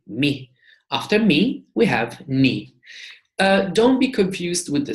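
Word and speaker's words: νι: In Greek, we call that ni, and we pronounce it n.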